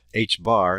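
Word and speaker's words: ħ: this they got tired of writing two Pi H bar that's how it's pronounced is h / 2 pi so instead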